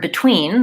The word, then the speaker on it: between: the syllable between and so they put a stress mark that looks like an apostrophe before the stressed syllable so that tells me that the bit is unstressed and the tween is stressed the challenging